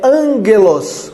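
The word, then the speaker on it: ἄγγελος: Outro detalhe, veja que a pronúncia é angelos, quando tem dois gamas juntos, um tem som de N.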